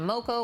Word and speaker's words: moco: Spanish for crazy they tapped on moco which rhymes with local and it just sounded